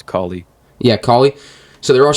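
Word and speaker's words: Kali: I'm pretty sure it's Callie.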